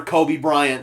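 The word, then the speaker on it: Coby Bryant: His name is spelled C-O-B-Y, so there would be 2 Kobe Bryants in the NFL, both of them playing the same position, but both of them spelled differently.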